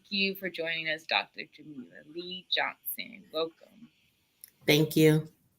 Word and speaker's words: Jamila: Dr. Jamila, pronounced Jamila Lee Johnson, is a proud graduate of the University, a historically Black college in Atlanta, Georgia.